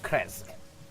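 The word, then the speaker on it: Krezk: Can you spell that, please? K-R-E-Z-K. Kresk? Krezik. Krezik, Krezik. Krezik, however you want to pronounce it.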